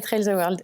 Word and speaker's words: Trails the World: d'un centre de formation, Wella, si je prononce bien. Voilà. Bonjour Maud. Bonjour Sébastien, c'est très bien prononcé, Wella et Trails the World, c'est bien ça.